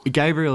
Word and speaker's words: Gabriel: Gabriel is it, and it's a really hard one to pull people up on. I hate to have to emphasise that first syllable.